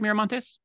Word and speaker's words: Miramontes: I have the pleasure of speaking with Jen miramontes did I pronounce that right miramontes yes you did perfectly excellent thank you Jen